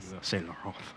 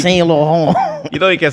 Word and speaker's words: Saint Laurent: got the job at Saint Laurent. Yeah. That Saint boy. Laurent. Saint Laurent. Whoa, you gotta roll the tongue. You gotta put the "on" in your voice. You know you Saint Laurent.